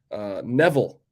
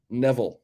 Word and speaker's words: Neville: It's pronounced like devil. Neville. Neville.